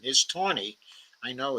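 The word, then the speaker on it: Taney: chief justice uh Roger Tony in the correct pronunciation is Tony I know it's spelled as tany but the pronunciation is Tony Roger Ton's 1956 Dread Scott versus Sanford decision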